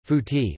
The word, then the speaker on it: Fuet: Fuet, Catalan pronunciation, fouti, lit.